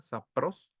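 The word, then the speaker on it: σαπρός: obscena del griego sapros con acento en la o y así como suena sapros también significa torpe corrupta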